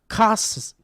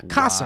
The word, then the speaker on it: Kasser: Then the sir part like the word sir. Got it? No? Don't care? Perfect. So wait, let's try it now. Kasser. Wow. Yeah, Kasser. Wow. This man's name is Kasser. I was pronouncing it like the roll of bread the Jews love.